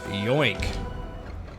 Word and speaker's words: Yoink: You're not saying it right. It's more like Yoink.